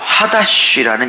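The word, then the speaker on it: חדש: 것이며, 오늘도 이 단어가 나오겠지만 새 일, 히브리어로 하다쉬라는 이 히브리어 표현인데, 이 표현을 무진장 잘 기억하셔야 합니다.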